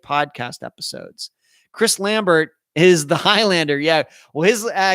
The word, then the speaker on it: Lambert: Chris Lambert is the Highlander. Yeah. Well, his actually, Christopher Lambert is how you pronounce his last name.